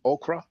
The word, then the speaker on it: ochre: will be the red ochre. Now, I've been saying ochre for years, but apparently we're supposed to pronounce it ochre. no, it's ochre. Okay, okay, well, I was right then.